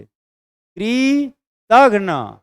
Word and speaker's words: कृतघ्न: गया कृतघ्न क्या है कृतन सही प्रोनाउंस एशन दीजिए क्री तन जब आप सही प्रोनाउंस एशन बोलेंगे उच्चारण करेंगे क्री तन तब जाकर के कुल